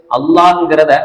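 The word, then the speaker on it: الله: எல்லாம் உச்சரிக்கலாம் அப்படிங்கிற முறைதான் ரெண்டே முறைதான் ஒன்னு அல்லாஹ் வல்லினம் உச்சரிக்கணும் அதாவது வாய் நிரம்ப சொல்லணும் அப்படி இல்லன்னா இன்னொரு முறை இருக்குது லில்லா அதாவது வாய் நிரம்பு இல்லாம நம்ம நார்மலா மெல்லினமா எப்படி சொல்லுவோமோ அதே முறையில சொல்றது இன்னொரு முறை இந்த ரெண்டு முறையினுடைய சட்டத்தையும்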